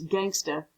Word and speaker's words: gangsta: me forever to learn to pronounce Gangsta without the hard r at the end and the kids loved